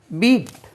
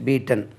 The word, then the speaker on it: beat: பீட் BEAT பீட். பீட்னா அடிக்கிறது, அடி. Present டென்ஸும் பீட்டு தான், பாஸ்ட் டென்ஸும் பீட்டு தான். இதே ஸ்பெல்லிங். பீட் பீட் பீட்டன். அது பாஸ்ட் டென்ஸ்க்கு பெட் என்று உச்சரிக்கக்கூடாது. பீட் பீட் பீட்டன்.